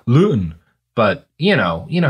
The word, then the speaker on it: Luton: and it is still I think it's usually pronounced by English people loon but you know you